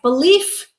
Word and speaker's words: belief: All right, word pair number 5, belief, f, noun, believe, v, voiced, verb.